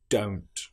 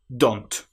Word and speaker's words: don't: For example, many people will say don't instead of don't. They use the short o sound don't. But this is incorrect. It needs to be o don't.